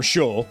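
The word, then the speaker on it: Chaud: For anybody who's more familiar with the cartoon than the games, yeah, he's Eugene Shaw here. Or Shaw, rather, if you're gonna go with the actual French pronunciation.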